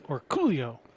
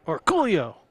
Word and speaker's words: Orcollo: Yes, and that's how you say his name. It's Orcollo. Because we asked him, we were at Derby, and said, hey, Dennis, how do you say your last name? And he looked at us and said, Orcollo. So you got to say it with that emphasis.